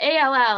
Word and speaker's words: all: So the ALL, it's not just one sound, it's more than one sound, but that second L is silent.